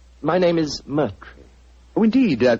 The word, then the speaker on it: Moriarty: I'm afraid I'll have to begin calling it the way it looks. M-O-R-I-A-R-T-Y. Moriarty.